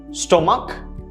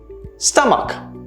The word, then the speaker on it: stomach: you pronounce it well if you pronounce this pronounce this as stomach this is incorrect the right pronunciation is stomach stomach there's no os on there there's no o sound there's just an uh sound stomach right the stress is still in the first syllable but it's stomach not